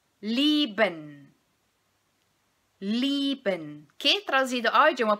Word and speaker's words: lieben: Em relação à pronúncia, nós vamos entonar a primeira sílaba desta palavra e o IE nós vamos pronunciar com som de I apenas, certo?